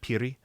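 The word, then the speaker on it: 피리: But I think the one you're talking about is called it's called the Piri, which is like a Piri, and you kind of roll the R a little bit, Piri.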